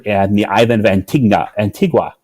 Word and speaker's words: Antigua: the I've inventing de Antigua that said it wrong oh and t and y antigua there we go antigua antigua where we